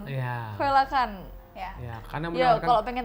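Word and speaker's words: coelacanth: Susah kan Apa bacanya? ini? Koelakan. Iya. Koelakan.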